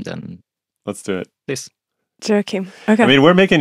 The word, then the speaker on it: Joachim: So by friends, I'm really called Joachim, but that's...